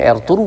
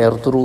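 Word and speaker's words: Ertuğrul: कहा जाता है और तुर्की ज़बान में एर्थुरू कहा जाता है, कि तुर्की ज़बान में जो नाम है एर्थुरू, उसके अंदर जो जी है वो सॉफ्ट जी है, इसलिए उसे प्रोनाउंस नहीं किया जाता।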